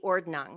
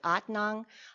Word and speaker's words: Ordnung: own interpretation of the ordnung now i'm pronouncing that as they pronounce it in english if they're pronouncing it in their colloquial pennsylvania deutsche pennsylvania dutch they pronounce it otnong i'm more comfortable with